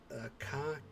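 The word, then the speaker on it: か: You can pronounce these syllables the same way, only with a hard K in front.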